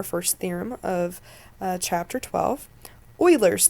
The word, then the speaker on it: Euler: theorem of chapter twelve Oilers theorem so we pronounce it like Euler Euler theorem says the number